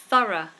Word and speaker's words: thorough: of a word now I think the rule is that when the r is surrounded by vowels so you have a vowel sound before and after then the r will be pronounced as normal for example when you have the word Thor thorough thorough um if I if